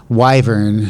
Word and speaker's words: Wyvern: in the spicy questions, is Wiver going to be finished? Wyvern, thanks to Geralt of Rivia, I learned how to pronounce it correctly.